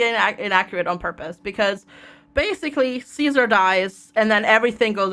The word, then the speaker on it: Caesar: It's like, is it Caesar or Kaiser? No, it's actually Caesar, is what they call him in this game. So they actually do have sort of the correct pronunciation of Caesar. And yes, it is Caesar.